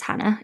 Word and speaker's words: Jana: The key thing to note is that even though we have said my name is Hannah, it's spelled Jana.